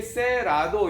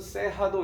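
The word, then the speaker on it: Cerrado: 브라질 산토스 세라도라는 커피입니다 이게 세라도 이렇게 영문식으로 읽으면 안 되고 이쪽 나라의 사람들은이 알짜가 h 발음으로 되나 봐요 그래서 브라질 산토스 세하도 이러는데 그러면 이게 어떤 뭘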